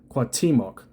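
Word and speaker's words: Cuauhtémoc: Pronunciation And it says the pronunciation of see I did Sloakia in Spanish is approximately quatimok a word for word transliteration with a slight stress on the second syllable.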